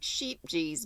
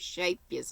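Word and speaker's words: Scheepjes: shape is looks like sheep geez but it's pronounced shape yes it's a dutch word um or a dutch brand and i think it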